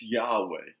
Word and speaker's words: Yahweh: that you've heard out of the hebrew it's yahweh it is spelled y a h w e h normally